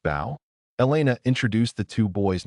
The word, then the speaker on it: Bo: Anyways, I want to introduce you guys to my two sons, Mark and Bo. Pronounced Bao.